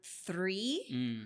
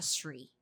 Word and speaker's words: three: Also with the word three. Her soft e is not very clear. Sounded more like a shree. Okay. Yeah. Like an s sound.